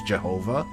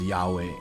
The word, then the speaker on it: Yahweh: Actually, I think some Christians still use Jehovah, but the pronunciation that's actually more accurate is Yahweh.